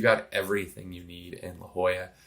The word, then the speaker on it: La Jolla: amazing community in all of San Diego in La Jolla.